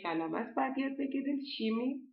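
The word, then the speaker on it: Chemie: شیمی، شیمی دقیقا مثل فارسی تلفظ میکنن شیمی رو، نمیگن کمی، نمیگن شمی.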